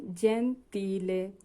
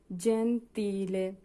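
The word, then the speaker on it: gentile: বলেছিলাম জি এর পরে যদি ই এবং এ থাকে তাহলে জ এর মত উচ্চারণ হবে। যেমন জেন্তিলে জেন্তিলে মানে সদয় বা মহদ।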